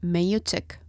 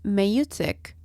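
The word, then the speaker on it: maieutic: This is why the Socratic method is also called the meutic method. And here comes my nerd side. The word meutic, which is spelled as M-A-I-E-U-T-I-C, comes from, as expected, an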